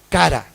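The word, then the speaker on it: קָרָא: La palabra llamados viene del hebreo cara, con acento en la última A, en la segunda A, cara.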